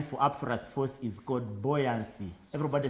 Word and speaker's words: buoyancy: force buoyancy yes buoyancy it is almost pronounced right now what boy boy whatever is you the pronunciation remains the same boy buoyancy he's gotta use the